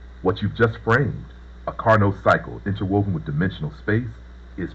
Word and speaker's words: Carnot cycle: The one thing I want to correct is it's called the Carnot cycle, Carnot. I believe that's how it's spelled, not chronic cycle.